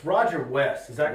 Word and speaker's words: Wuest: here with Roger, and I don't want to mispronounce it. It's Roger Wuest, is that correct? Wuest. That's what I said, Wuest. W-U-E-S-T, Wuest, okay?